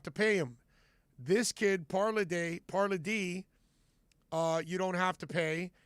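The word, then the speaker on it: Palardy: But Michael Parladé, or Parladé, I think is the way it's pronounced.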